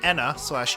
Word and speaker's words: ENA: Uh, starring the titular character Anna/ Ena, depending on how you want to pronounce it, cuz apparently a lot of different pronunciations are all considered valid.